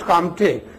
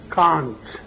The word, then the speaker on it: Comte: very nice, he told it is not Auguste Comte, it is Auguste Kant, N, not M. So Auguste Kant.